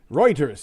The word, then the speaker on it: Reuters: Reuters.